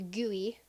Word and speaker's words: GUI: Kulu GUI or as I've been told it's pronounced gooey where um you can INF fuse obviously um